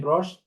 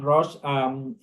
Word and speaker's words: Rosche: Today, we're glad to have Ben Rosche. Did I pronounce it correctly, Ben? Yeah, you did. Ben Rosche, who is a currently he's about to defend